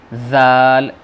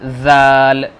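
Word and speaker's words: ذال: یہ زال. جیسے سا کا پرننسیشن تھا، تلفظ تھا، ایسے ہی زال کا ہے. جیب کو دانتوں کے بیچ میں رکھنا ہے اور یہیں سے نکالنا ہے، نیچے والے دانتوں کے.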